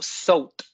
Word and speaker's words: saute: Comme par exemple dans le mot saute ici. Quand je dis le mot saute, vous voyez, il y a un E muet.